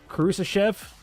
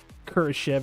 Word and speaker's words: Kurashev: this stream out after Kusa Chev looks like he's going to shoot first get some Blackwood kurashev pardon me kurashev is how you say it he gets the first